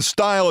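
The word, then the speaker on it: Steil: that Republican Congressman Brian style is a liar says Brian Style by the way his name is spelled steel as in stop the steel stop the style three Wisconsin congressmen four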